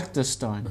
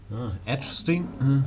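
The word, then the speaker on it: Agdestein: Agderstein. Agderstein. Right. I've been saying Agderstein. Edgestein? Agderstein. Goodness me. No edge to Agderstein.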